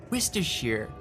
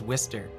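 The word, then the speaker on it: Worcester: pronounce it like wierer I always hear people say like Wister Shear it's like no it's wher but yeah local local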